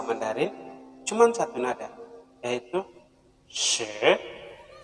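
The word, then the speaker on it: 十: Jadi bacanya she. Jadi ini adalah nada 10. She. Jadi she ini dia pakai nada yang keberapa nih? Dia menggunakan nada yang kedua. She. Jadi nadanya naik ke atas.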